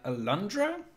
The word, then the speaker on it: Alundra: puzzles and apparently that reminds that's inspired by alundra that's how you pronounce it that was a playstation 1 game